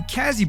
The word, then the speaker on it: Cazzy: 5th place, this person scored 74 points, and his name rhymes with bitch. I'll give you guys a hint. He makes textures and you guys should check him out. I'm referring to Kazzy Boy.